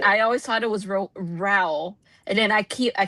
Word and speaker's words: Rowell: So, is it Rowell or is it Rowell? Because I I'm most positive that I looked this up and I saw like her the author herself say like towel.